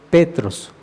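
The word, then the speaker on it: Πέτρος: escribe arriba y dice petros con acento en la e petros es el nombre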